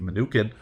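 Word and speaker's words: Mnuchin: of investors led by former treasury secretary Steve manukan which I looked it up and that is how it's pronounced Steve manukan uh went ahead and led a $1 billion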